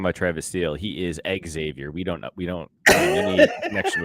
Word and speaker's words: Xavier: First of all, I could never talk you into pronouncing it correctly. It's Xavier, motherfucker, and you know that.